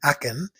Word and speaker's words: Aachen: And so, after a most enjoyable day in Aachen, that's how the local people pronounce the name, we headed back to Brussels, here passing a castle.